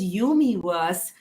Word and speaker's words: UMiVERSE: the company's name is umiverse ecosystem you're right it rhymes with universe but universe ecosystem is